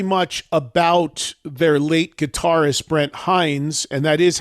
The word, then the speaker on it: Brent Hinds: And it's very much about their late guitarist Brent Hinds, and that is how it's pronounced because I heard the guy say it